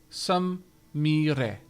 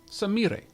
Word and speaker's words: Samira: As a note, Aavak, if Samira is Japanese, her name is pronounced with a hard I and a rolling R. Samire. Samire.